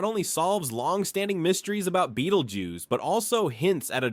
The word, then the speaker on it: Betelgeuse: Beetlejuice, pronounced Beetlejuice. Yes, like the quirky movie character, is no ordinary star.